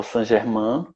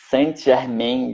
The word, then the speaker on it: Saint Germain: Eu acho interessante que eu já vi muita gente falar Saint Germain, é uma pronúncia bem americanizada, só que eu não consigo. Para mim é Saint Germain, que para mim é francês.